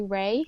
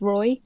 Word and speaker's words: Rai: of um of Bangla you actually write it Roi which in English you pronounce Roy but in Bangla that's right so all the